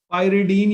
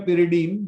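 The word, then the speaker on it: pyridine: है एन से, और इसका नाम है पायरिडीन या पिरिडीन, जैसे प्रोनाउंस करें, क्लियर।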